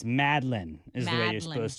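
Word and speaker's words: madeleine: for that what is a mattaline it's not pronounced madaline cookie isn't it it's madlin is the way you're supposed to pronounce that madlin um CRM brulee I've crushed that that's exactly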